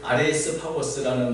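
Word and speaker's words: Άρειος Πάγος: 왜냐하면 제가 보니까 이게 이제 지금도 원래 이제 아레오파고란 말이 아레이스 파고스라는 말이 발음인데 지금 현재 그리스 대법원의 이름이 아레오파고, 아레이스 파고스입니다.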